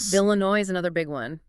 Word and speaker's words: Illinois: Illinois is another big one. That final S is silent, too.